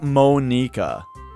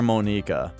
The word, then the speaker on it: Monika: are all japanese names so this one you would think would be pronounced the japanese way which would be monica say it like it's spelled well again with japanese it would be like monika but that sounds for